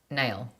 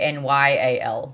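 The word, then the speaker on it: Nale: You know that the name Nail sounds like nail. Oh, well, yeah, I think I just proved that reading the comment. But I don't read it, so I don't know how it's spelled, but I saw someone say Nyal, like Niall, like one of the One Direction boys. I listen to the books and it says Nail.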